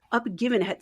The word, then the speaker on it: Uppgivenhet: I love it, in Swedish, it is called Uppgivenhet Syndrome. Ah. Do you know actually how to pronounce words in Swedish?